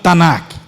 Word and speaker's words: Tanakh: Tanakh.